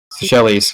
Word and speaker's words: Seychelles: I don't know how to pronounce that word. Please forgive me. Seychelles.